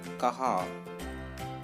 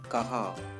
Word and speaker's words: कहाँ: Where, which means that कहाँ. That is N is silent actually. कहाँ, എവിടെ.